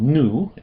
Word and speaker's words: nu: The N is called new and it has an N sound as in the English word new. New.